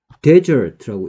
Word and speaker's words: desert: 얘를 데저트라고 읽었을 때는 무슨 뜻이고, 그 다음에 똑같이 쓰고 얘를 디저트라고 읽었을 때, 그러니까 DESERT라는 단어가 있습니다.